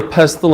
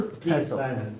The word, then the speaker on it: pestle: Basically, this picture right here, this is a pestle and a mortar. Pestle. What? The T is silent.